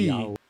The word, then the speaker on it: Yahweh: Yowie. Yahweh Yahweh. is how to pronounce it.